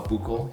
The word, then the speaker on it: buccal: is something called the buccal lipoectomy some people call buckle you can call buckle tomato tomato however you want it's spelled b-u-c-c-a-l but